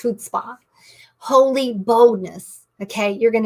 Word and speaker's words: chutzpah: That's pronounced chutzpah.